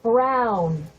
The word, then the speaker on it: Brown: bill to a t that's EMT Brown rhymes with clown which I'm beginning to